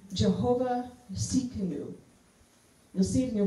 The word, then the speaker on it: Tsidkenu: So if you see canoe with an emphasis on the C, that's how you pronounce it, Tsidkenu.